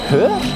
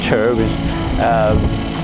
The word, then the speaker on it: Chur: Now of course I'm joking that the real pronunciation of this in German is Chur? Okay, but in, you know, as in Cantonese, Chinglish, we call it Chur.